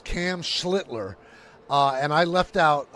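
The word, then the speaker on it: Schlittler: Um, it's Cam Schlitler.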